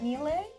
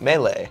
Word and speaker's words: Melee: Melee. Melee. Oh, sorry. Oh, is there's no accent on the e on the sec on the first. No accents and yet you say melee.